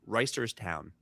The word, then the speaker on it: Reisterstown: Reist- Reisterstown. I've got it. Ooh. But they will usually say like Reisters, but it's Reisters. There's a T in there.